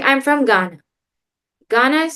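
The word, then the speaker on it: घ: Like I'm from Ghana. Ghana is spelled Ghana.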